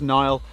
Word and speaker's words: Niall: So when I work with kids, like I'll often tell people, okay, hello, my name's Niall, a bit like the River Nile.